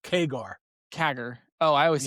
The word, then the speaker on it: CAGR: Yeah, so CAGR It is pronounced keger.